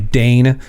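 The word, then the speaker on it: deign: Um cuz like if you Dane to do something like that's D E I G N, right? Dane. I dained to. That's it's kind of the same pronunciation.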